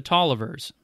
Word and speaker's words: Taliaferro: of Virginia's oldest families the Tolliver's spelled like Taliaferro from whom Richard Tolliver